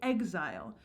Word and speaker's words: exile: But you'll notice that “exile” is kind of scanned differently than we would actually say it. We say “EGG-zile,” but if you look